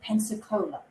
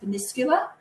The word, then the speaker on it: Península: And most of us would have wanted to pronounce it as Pensacola. It was actually pronounced Península.